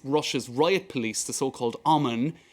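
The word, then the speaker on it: ОМОН: riot police the so-called alman in the cirillic alphabet the h there at the end is pronounced as an n and indeed in a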